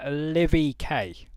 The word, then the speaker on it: Livvy K: I know you are on your screen now is I'm hoping I pronounce this correctly. Uh Livy K.